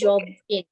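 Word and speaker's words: Jobim: I don't know how to pronounce that. It's Jobing.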